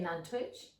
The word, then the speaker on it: Nantwich: How do you say Nantwich? Nantwich. I don't pronounce the T.